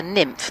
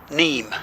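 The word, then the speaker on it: Niamh: name do we say I want to call her nymph but I can't call her nymph can I how do we pronounce That neem. Neem. Neem. It is Irish. That's the pronunciation. Neem. Yes, she's not a nymph.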